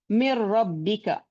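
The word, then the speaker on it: مِن رَّبِّكَ: So how do we pronounce this? Mir rabbika, mir rabbika. There is no role of or no effect of noon.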